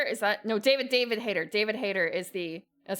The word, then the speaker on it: David Hayter: Richard Hayter? Is that... No, David Hayter. David Hayter is the... That's how it's pronounced, right?